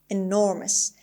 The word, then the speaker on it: enormous: hope hum turkey beneath the stress is on the second syllable is on n and since the word ends in ous it is definitely an adjective enormous enormous means extremely large